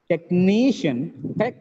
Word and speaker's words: technician: a patient magician magician technician there are three syllables second from the last is stress tears technician suspicion suspicion